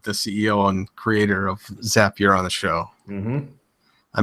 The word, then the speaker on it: Zapier: and first it's pronounced zapier remember that reminder that's right it rhymes with happier ah okay there you